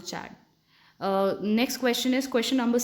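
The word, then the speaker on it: Chad: I don't know how to pronounce it. I pronounce it चैड.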